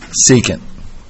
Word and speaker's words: secant: cosine otherwise known as starts with an S rhymes with II can't secant so you gotta remember